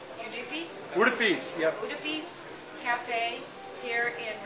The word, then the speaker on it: Udupi: National Thinkers Meeting, and we're at, and correct me if I don't pronounce this right, Udupi? Udupi, yep.